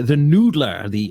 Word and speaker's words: NDLR: But the other one, it's a toss up between is the Noodler, or it's spelled NDLR.